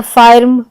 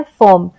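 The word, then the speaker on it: firm: कहीं-कहीं किसी-किसी शब्दों में जैसे फर्म फर्स्ट तो यहां पर हमने फायर्स या फायर्म या फिर ऐसे हम नहीं करते प्रोनाउंसिएशन बल्कि हम कहते हैं फर्म।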